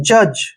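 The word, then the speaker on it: judge: जे यू का उच्चारण जय करेंगे, डी यहाँ पर साइलेंट होगा, जी से पहले जब भी डी आता है तो डी वहां पर साइलेंट हो जाता है, और जी ई को हमने जय पढ़ना है, जज, ठीक है ना, क्या पढ़ेंगे इसको, जज।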